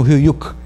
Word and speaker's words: Höyük: Eles pronunciam Höyük, quer dizer cotovelo do garfo.